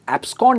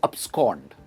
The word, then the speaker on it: abscond: abscond, इसकी pronunciation abscond नहीं है, इट इज abscond।